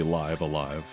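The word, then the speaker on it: Live A Live: The trailer said it's pronounced like live, so it is supposed to be live alive.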